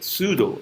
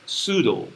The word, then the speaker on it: pseudo: a scientific area i have already shown the pseudo pseudo pseudo you don't pronounce the top p in this one as well can you pronounce this the second one second word first one is pseudo like a pseudo first order reaction first pseudo-order